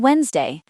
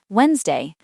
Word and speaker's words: Wednesday: Then Wednesday. This one is a bit tricky. The D is silent. Wednesday.